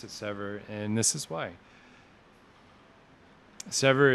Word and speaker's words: Sever: It's pronounced as Sever, meaning to separate.